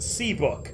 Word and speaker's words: CBK: CBK, pronounced C-Book, is how people pronounce it.